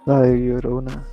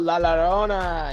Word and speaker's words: La Llorona: How do you pronounce it? It's a Spanish. La Llorona. Yeah, I think that's part of it now too. Oh, La Llorona!